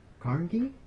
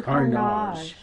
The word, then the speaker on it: Carnage: My favorite character is Don Carnegie? Don Carnage. Oh, yeah? Is that spelled like carnage? Yes. Carnage. So it's spelled exactly like carnage.